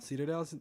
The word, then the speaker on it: Cedardale: Cedardale, that's how you say it.